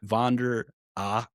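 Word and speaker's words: Von der Ahe: How do you pronounce that name? Vander A.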